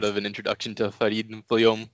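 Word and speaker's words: Villaume: Vilom.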